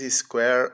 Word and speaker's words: square: Então, praça square, o S com de S, o K de o C de o Q de K. U de u, o A de E, o R de R, o E mudo. Enrola a língua no R. Square.